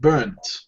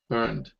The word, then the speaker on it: burnt: And see, for example, the first one, um, Julia spelled it burnt. Yeah. With the T. However, we can also spell it with ed. Burnt. Burned. Yeah, both both are correct, just in case you didn't know.